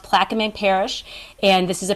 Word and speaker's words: Plaquemines: So the case is Chevron versus, I believe it's pronounced Plaquemines Parish, and this is a parish in Louisiana.